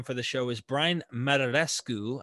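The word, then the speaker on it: Muraresku: the show is brian mararescu i think i'm pronouncing that right it's mirror rescue technically mararescu and he wrote a book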